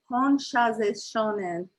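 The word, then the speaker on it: Hon Sha Ze Sho Nen: And in Japanese, we pronounce it Honshaze Shonen.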